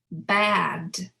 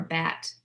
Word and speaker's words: bad: Now, let's do the /D/ "afraid" "bad" "bread" "outside" "cried" So I'm really pronouncing that last sound as a voice sound right because /D/ is voiced so it's not "afrait" or "bat" it's not "breat" "outsite" So it's something to